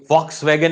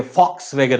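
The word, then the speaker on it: Volkswagen: ये जो है ना, ये वॉक्स वैगन नहीं है, VOXVAGN, वॉक्स वैगन नहीं होता, ये फॉक्स वैगन होता है। इसको बोला जाता है फॉक्स वैगन, प्रोनाउंसिएशन होता है इसका फॉक्स वैगन।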